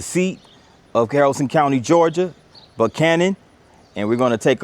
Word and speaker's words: Buchanan: Now, James Buchanan his name is pronounced Buchanan, but uh the town itself, the locals pronounce it Buchanan.